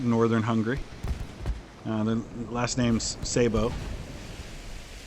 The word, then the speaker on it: Sabo: The last name's Sabo. It's spelled S-A-B-O here in the States, but originally I know it would have been S-Z-A-B-O. Because if I understand Hungarian right, S-A-B-O would actually be pronounced Shabo.